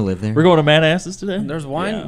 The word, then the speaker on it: Manassas: Pronounced Manasses.